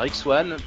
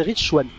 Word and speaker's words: Rich Swann: Donc, nous en étions maintenant à Neuville face à Rick Swann pour le titre Cruiserweight. Face à Rich Swann. Rich Swann? Moi, je prononce Rick. Ah non, c'est Rich Swann.